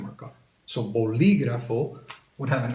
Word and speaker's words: bolígrafo: So for example, do I say bolígrafo, bolígrafo, bolígrafo, or bolígrafo? You'd say bolígrafo.